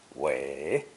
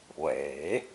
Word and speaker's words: 伟: This character is a phono-semantic compound pronounced third tone, wei, wei.